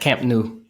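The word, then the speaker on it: Camp Nou: saw at Spotify uh Camp new at or nuo I can't say it properly but um this weekend she was in Barcelona at Camp new Camp new okay I said it right the first time okay great good um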